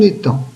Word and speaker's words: étang: pouvez trouver des canards et si l'on voit la lettre g à la fin du mot et en mai cette lettre g je ne l'entends pas je ne dis pas et tangue je ne